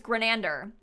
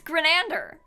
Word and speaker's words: Grenander: Like, Dan's last name, for some reason, it's Grenander. People cannot pronounce it for whatever reason. At his graduation, they even had been told how to pronounce it. They still said it wrong. It's Grenander.